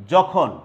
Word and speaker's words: যখন: নিয়মটা, সেই নিয়মটা হচ্ছে 3 বর্ণে গঠিত শব্দের প্রথম বর্ণটি যদি অ হয়, যেটা স্বাধীন হতে পারে, যুক্ত ব্যঞ্জন হতে পারে, তাহলে মধ্য অ এর উচ্চারণ উকারের মতো হয়। যেমন যখন, তখন, যখন, তখন, যখন তখন, ফলন, পঠন।